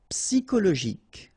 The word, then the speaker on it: psychologique: Okay, remember at the end you get this K. Okay, so ic. and then Y is pronounced like I, psi, and then it's an exception here because normally we should pronounce it chaud, okay, but then we pronounce it co.